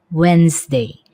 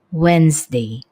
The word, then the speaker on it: Wednesday: Pengucapan kata ini adalah Wednesday. Wednesday. Jadi, D-nya tidak kedengaran.